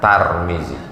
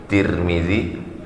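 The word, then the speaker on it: ترمذي: boleh juga dibaca turning boleh juga dibaca Tarmizi tiga cara membacanya Tarmizi tirmidhi turmudzi begitu dalam kitab Al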